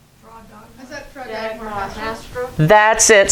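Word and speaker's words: Dagmar Hastrup: Connie Hilker, I might need some help pronouncing this. Dagmar? Draw dog. Is that for Dagmar Hastra. That's it. Say it again. Dagmar Hastra.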